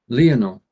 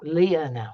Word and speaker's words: Lionel: actually he's actually pronunciation his name is not lying on uh it's leah now all right okay okay